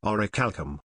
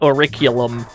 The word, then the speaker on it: orichalcum: Okay, let's see if I pronounce better than that dumb idiot nerd dumbass, orichalcum. There you go, that's how you're supposed to say that word. It's definitely not auriculum.